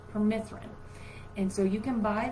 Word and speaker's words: permethrin: It's permethrin.